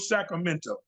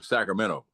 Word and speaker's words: Sacramento: There's no T. Sacramento. But it's spelled with a T, and I think this T is supposed to be enunciated. But in Sacramento, in the end, I think it's T-O in the end of Sacramento. Well, it is. That's how it's spelled, and that's the proper enunciation. But if you you're all here, we leave it out.